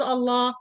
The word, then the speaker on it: Allah: example on the land the lamb in the word Allah must be heavy or perfume sound if you found it before the word Allah you have to pronounce it this lamb heavy in the Quran the